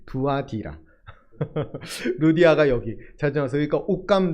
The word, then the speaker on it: 두아디라: 발음이 두아디라 루디아가 여기 자주어.